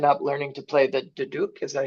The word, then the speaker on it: duduk: He has played drums in various bands over the years, and more recently, he's taken up learning to play the duduk.